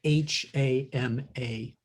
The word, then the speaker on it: Hama: It's a Japanese name, and it's spelled H-A-M-A.